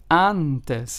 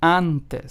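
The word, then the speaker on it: antes: a in English and it is pronounced with the a in the English word aha so let's take an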